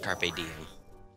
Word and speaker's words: carpe diem: It's pronounced carpe diem.